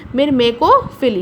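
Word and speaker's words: myrmecophily: को करवाते हैं तो उसको हम बोलते हैं मिरमेकोफिली। यहाँ पे मैंने आपके प्रोनाउंसिएशन के लिए उसको लिख भी दिया है,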